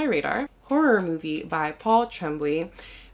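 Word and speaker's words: Tremblay: horror movie by Paul Trembley or tremble I think is how you say it is another horror book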